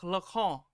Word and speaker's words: Lacan: He's French, so I know it's supposed to be like Jacques Lacan. I know. I'm American, though, so I'm going to say Lacan. Just like I say croissant.